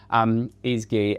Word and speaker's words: Ezgi: Ezgi has, I have pronounced your name right, haven't I? Yeah, Ezgi, that's spot on.